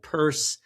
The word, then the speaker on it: Pearse: It's with an A on the end, and Pearse spelled like, I guess, hearse, Pearse, some kind of Irish version of it, Pearse.